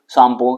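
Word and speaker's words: Tsangpo: ये आईटी A Jatt Indo शापो suture zone बोलते हैं इसको यहां पर टी साइलेंट होता है हां ठीक तो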